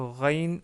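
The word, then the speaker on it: غين: Avec une légère différence, car le R Rain, la lettre Rain en arabe, elle est un peu plus forte.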